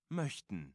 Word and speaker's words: möchten: Because it's like a, the M-O-C-H, the C-H-T part is, like, really tricky to pronounce.